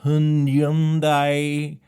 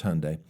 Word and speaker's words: Hyundai: the GMC Terrain, the Lexus RX, the Honda HRV, the Civic, the Honda CRV, the Hundai. I know how to say it. It's Hyundai.